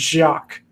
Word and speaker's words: Jacques: and then in the when it's spelled like the French way is Jacques Jacques like how they say Jacques so I was worried